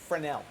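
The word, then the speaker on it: Fresnel: yeah what was it leave off the s the S is silent frel yeah yep very good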